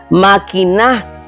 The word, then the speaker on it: maquiná: Maquiná es la primera persona del imperativo, el verbo maquinar. Maquiná bien lo que vas a decir.